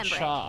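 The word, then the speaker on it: Luocha: Locha! Is that right? I remember Locha, it. that's how you pronounce it.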